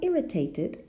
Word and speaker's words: irritated: Well, irritated is a verb which ends in the letter T, no? Or the letter D would be another example. And in that case, the ed is pronounced id. No? Irritated.